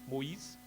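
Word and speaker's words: Moïse: two dots s e I guess the pronunciation in fact would be Moise not Mo right no but then it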